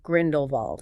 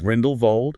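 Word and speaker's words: Grindelwald: fact, to clarify that the W in his name should be pronounced like a V. So Grindlevald, Grindlevald, like you would in German.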